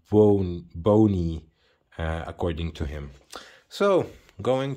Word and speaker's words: Blonie: see it's uh written as baloney but it's pronounced bone bony according to him so going to the history